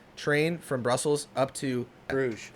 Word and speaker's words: Bruges: from brussels up to bruges it's called the bruce bruges oh man we're gonna we're gonna over your to you guys yeah yeah yeah bruce bruce it's supposed to be like bruce like one of the